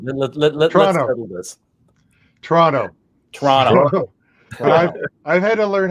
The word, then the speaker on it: Toronto: So the second T is silent, such like in the city that I live in, Atlanta. So yes. People think it's Atlanta. No, it's Atlanta. Double N. Atlanta. That's right.